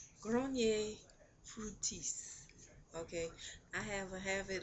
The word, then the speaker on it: Fructis: So, um, I started off using Echo Gel, and I started off using Garnier Fructose. Uh, I said fructose in my last video, but it's Fructis. Garnier Fructis.